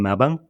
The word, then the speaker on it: Melbourne: from Australia I'm from Melbourne so I think well-spoken Australians call it Melbourne Melbourne do they yes